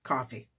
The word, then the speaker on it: Ko-fi: And I've decided that's how it's said, coffee. Different people pronounce it different ways. I'm going to stick with coffee.